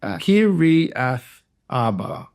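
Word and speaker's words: Kiriath Arba: You separate the I and the A next to each other. Kir Kiri. So, Kiri Kirath Arba. Yep. Kirath Arba. Perfect. Uh, some of Judah's descendants lived in Kirath Arba and Dibon and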